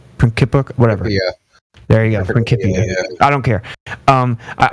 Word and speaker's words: Principia: I always say Principia, but Principia, whatever. Yeah. There you go, Principia.